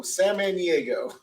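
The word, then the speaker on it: Samaniego: could how okay so nobody pronounces my name right sam manny it almost sounds like san diego san maniego oh okay santa i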